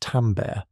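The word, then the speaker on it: timbre: Perhaps the most complex perceptual quality is tambber, pronounced tambber, timber is what allows us to distinguish between two different instruments playing the same note at the same loudness.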